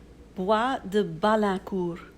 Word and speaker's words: Bois de Balancourt: going to insert the way it should be pronounced. Maison Louis Marie. Yeah, this perfume. Bois de Balancourt.